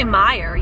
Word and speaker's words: Meijer: Oh, so that's how you pronounce it. It's supposed to be Meijer, yeah.